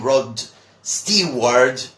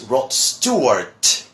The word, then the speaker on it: Rod Stewart: popular British singer well many people call him rod Steve word or whatever but his name is Rod Stewart Stewart okay Rob Stewart as